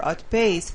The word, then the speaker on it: outpaced: Now here, you have to pronounce the P more. Outpaced. The trail runner outpaced the other runners. So you're putting the stress on the right syllable, but you just have to pronounce the P with more air.